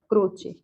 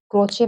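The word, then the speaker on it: Croce: क्रोचे। क्रोचे का पूरा नाम है बेनेड्रितो क्रोचे। पाश्चात्य नाम है, इसलिए कहीं कहीं इसका प्रोनाउंसिएशन कुछ और भी मिलता है।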